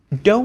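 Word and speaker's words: 道: in the do hotel do is the Japanese pronunciation of the Chinese word Dao it's actually the same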